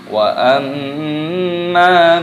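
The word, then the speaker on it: وَأَمَّا: Perhatikan di sini mimnya berharokat tasydid, ini dibaca gunnah ataupun berdengung. Cara membacanya yaitu dengan cara didengungkan. Wa amma, dan mimnya dibaca panjang, ada tanda alifnya matopi'i. Wa amma, seperti itu.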